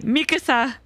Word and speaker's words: Mikasa: Mikasa there we go I said it right Mikasa I am just simply Mikasa foreign thank you